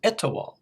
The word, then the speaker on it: Etowah: It's Etowah.